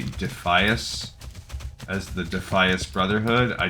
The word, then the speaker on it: Defias: Um, and then I had a lot of people like, "No, it should be Defias."